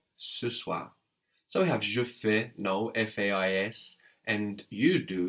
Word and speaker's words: fais: Je fais. That's spelled F-A-I-S. Je fais. And of course we have the AI giving us an E sound like in maison.